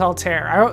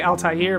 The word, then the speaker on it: Altair: Altair let's go with Altair there's a problem you won't say Altair but that's a name Altair is the more common pronunciation uh that stops time